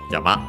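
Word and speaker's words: 山: modifying the following noun yama uh which means mountain uh accent on the second on the last syllable yama.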